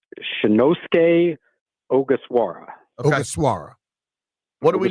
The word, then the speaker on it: Ogasawara: I'll let you tell me how to pronounce it. All right, I believe I have it finally. It's Shinosuke Ogasawara.